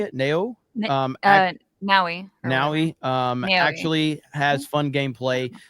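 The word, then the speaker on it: Naoe: But Neo, how do you say it? Neo? Naui.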